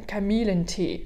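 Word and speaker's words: Kamillentee: ressemble aux français un camille lenti comme camille d'accord camilla noté mais attention c'est pas camille nt le lieu comme camille en français là on prononce vraiment des ailes en allemand on prononce en fait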